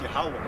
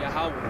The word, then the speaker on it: Yahweh: Okay, it's actually it's pronounced Yahweh. Yahweh.